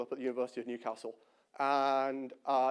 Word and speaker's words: Newcastle: at the university of newcastle and uh it's got a short a in case you southerners were wondering um this bugged me